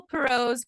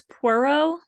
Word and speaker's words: Poirot: Because I know how I pronounce it in my head, but Okay, I think it's Poirot. Poirot. Poirot, Yeah, Poirot, but I always say Poirot, Poirot.